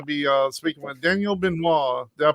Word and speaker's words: Benoit: today we're gonna be uh speaking with Daniel benois did I pronounce that right yes absolutely yes it was